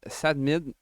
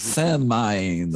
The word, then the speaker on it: S4NDMIND: Que Sadmid. Sadman. Non, c'est pas Sadmid, c'est S4NDMIND. Comment on dit? Sandmind. Sandmind, merci.